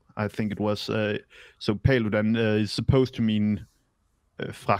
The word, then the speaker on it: Paludan: I thought it was Rasmus Paludan, but it's Paludan. That's Paludan.